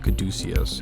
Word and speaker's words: caduceus: it up on the Wikipedia and it is pronounced the caduceus and this is from the first paragraph on